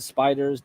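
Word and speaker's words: SPDR: are called the spiders SP PDR they just pronounce it spiders don't ask me why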